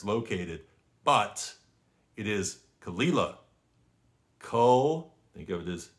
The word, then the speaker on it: Caol Ila: which is where it's located but it is kalila ko think of this c well co e